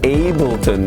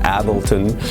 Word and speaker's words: Ableton: app I only have it mapped out to Ableton I've learned that actually the correct way to say it in English is Ableton not Ableton I've been pronouncing it the way I've been hearing it